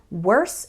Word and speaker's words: worse: worse and worst well worse ends with a s sound and worst ends with a St sound worst however when speaking fast it's common for that final T to just disappear so